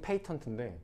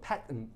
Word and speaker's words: patent: 영국은 patent인데 미국은 patent 이렇게 합니다.